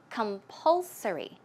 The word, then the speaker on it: compulsory: Okay, the stress goes right there. So it's compulsory.